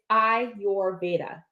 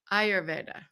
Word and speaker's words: Ayurveda: So I actually messaged it to you phonetically. It's Ayurveda. Ayurveda.